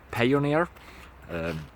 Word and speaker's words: Payoneer: to do something similar you can use pioneer payoneer spelled like pioneer but with pay it's an alternate alternative